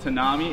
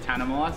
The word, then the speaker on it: Tanami: Not Tanami, it's Tanami, so if you say it wrong, they're gonna belt you.